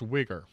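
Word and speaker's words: Uyghur: you look that up why gh it is pronounced wicker all right it's from all right all right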